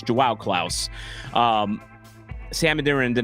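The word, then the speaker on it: João Klaus: With Joao Klaus out, I got knocked on for my pronunciation of that. It's Joao Klaus.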